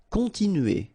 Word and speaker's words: continuer: Continuer. All right, so here, nasal, continue, remember, U, and then E.